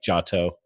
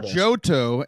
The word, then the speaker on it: Giotto: very famous people like Giotto. I know you might not know that one, but Giotto, he taught. I believe it's pronounced Johto, and that was the first region in the original Pokemon games.